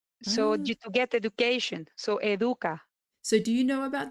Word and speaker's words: Educa: When I first saw the name, I thought it was Educa, like education, Educa. Yeah, it comes from there, because educar is to teach. So to get education. So educa.